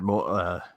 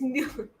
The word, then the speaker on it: Mueller: name, the Mueller, and they pronounced it Moeller, and I was like, "You bastards! You can't do that anymore." You bastard! It's Mueller.